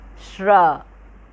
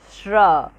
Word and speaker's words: श्र: श्र। श्र। ठीक है, इसका उच्चारण आप अच्छे से करिएगा। कैसे? श्र।